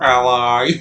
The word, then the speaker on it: Ali: Ali, my sweet monary. It is pronounced ally.